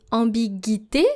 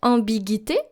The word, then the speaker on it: ambiguïté: However, the tréma, here the double dots on the letter I, cancels that silence. So basically you're supposed to pronounce the U. So don't pronounce it ambiguïté, but pronounce it ambiguïté. Ambiguïté. So every time you see that tréma on an I, then it actually cancels the silence of the previous letter.